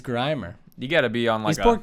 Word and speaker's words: Grimer: i literally one time heard a kid say grimmer instead of grimer you gotta be it's grimer you gotta be online support kids didn't get